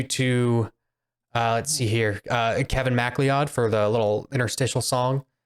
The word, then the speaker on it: MacLeod: It's MacLeod. Yeah, it's McLeod. Really? Oh, I've always I had pronounced no it idea.